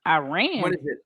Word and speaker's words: Iran: I have uh misspoken Iran Iran didn't you learn from Tyler Adams that's how you pronounce that no ma'am we got to get that right I run Iran Iran